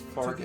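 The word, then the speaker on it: Faerghus: I don't like that it's pronounced Fargus.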